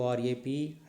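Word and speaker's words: wrap: r-h-m-e rime r-h-t-h-m rhythm in w r whereas w is silent w r i t e write w r a p rap okay now the rule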